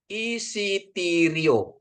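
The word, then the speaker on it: εισιτήριο: Oke, kata kedua ya, perhatiin ya, epsilon dengan Yota dia bacanya jadi i ya, perhatiin ini, isitirio, isitiro ya, isitiro ya, tiket. Jadi gini Bapak Ibu ya, ini kan ada strengnya di sini ya. Ini bacanya jadi isitiro ya, isitiri, isitirio gitu ya, isitirio gitu ya. Jadi di sini ditekan.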